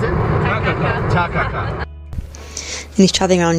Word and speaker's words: Takaka: How do you pronounce it? Takaka.